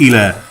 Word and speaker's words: إلى: Oh, But the word that we put in our sentence here is called ila. Okay? Illa, pronunciation with shadda or tashdid.